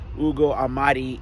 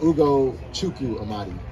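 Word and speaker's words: Ugo Amadi: The thing that we do have right now is we've got this exclusive Ugo Ahmadi interview.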